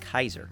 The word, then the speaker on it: Caesar: in the middle here Caesar isn't pronounced Caesar it's pronounced Kaiser like uh German Kaiser yeah like the sandwich